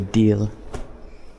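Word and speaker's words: дээл: This is called a deal. But a little brown. Although, again, I can't pronounce the L very well, so it's more like deal.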